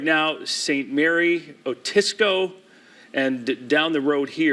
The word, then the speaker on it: Otisco: Mary area, even heading toward Otsego, is that how you say it, Mitch? Otisco.